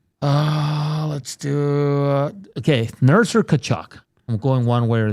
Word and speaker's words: Tkachuk: name, and I'm like, yeah, it's Tkachuk. They're like, no, it's Tkachuk. Yeah, I worked with someone at the Elks who it was spelled the same way, but it was pronounced totally different.